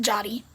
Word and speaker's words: Yari: That's how all you non-Spanish speakers will say it. But in Spanish, it's pronounced Jotty with a J, even though it's spelled with a Y.